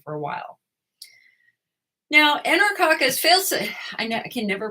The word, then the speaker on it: faecalis: Now, Enterococcus faecalis, I can never pronounce the second word.